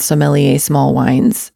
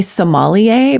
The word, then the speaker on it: sommelier: They curate these beautiful, beautiful gift boxes centered around sommelier tested small wines. And I don't know if I'm saying that right. Some people say sommelier, but it's actually SOMMELIER. Sommelier. I think that's the French pronunciation.